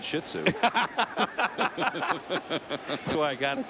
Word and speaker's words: Shih Tzu: not real big and it's pronounced shitsu say it wasn't I know I would have said Shih Tzu that's why I got